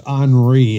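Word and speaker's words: Henri: been a lot worse if old tropical storm horny was still a hurricane that's anri it's spelled on re but it's pronounced nobody likes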